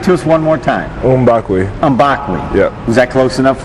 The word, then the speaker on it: Mbakwe: the world now so the proper way is umbak umbak yeah but people say mbak but yeah but the proper way say oakle